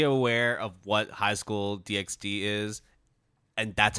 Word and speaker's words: DxD: know I mean I I always pronounce the X and Hunter x Hunter and spyx family so